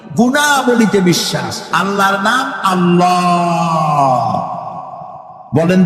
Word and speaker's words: আল্লাহ: অবশ্যই চেষ্টা এটি আমাদের মনে রাখতে হবে তো আল্লাহ তালা তার উপরে আমাদের বিশ্বাস হচ্ছে এই যে